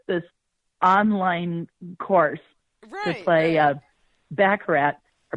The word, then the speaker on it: Baccarat: glad she took this online course to play Baccarat. Or Baccarat, as it's pronounced, and she spent a lot of money